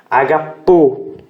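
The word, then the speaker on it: ἀγαπῶ: Agapo, tá ok? Agapo. A sílaba tônica está aqui, a sílaba tônica está aqui. Isso aqui é um acento, tá?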